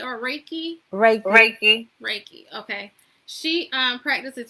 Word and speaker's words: Reiki: okay I'm trying to figure out how you pronounce that last two days um she it how do you say rocky or Reiki Reiki Reiki okay she um practices Reiki and her